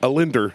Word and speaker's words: Allender: Allender. Allender. Yeah, just do it without one L.